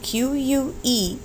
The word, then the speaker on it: que: q u e basically think of the q u as a k sound and then you pronounce the vowel that follows it so that would be k we would use this word a lot que as in the question